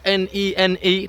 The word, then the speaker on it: Nene: It is spelled N-E-N-E, but it's Nen.